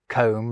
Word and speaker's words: comb: They also thought, crumb, and limb should have silent B's at the end of them, like comb, lamb, and womb already did.